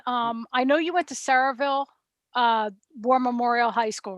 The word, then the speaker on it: Sayreville: And I know you went to Saraville War Memorial High School, right?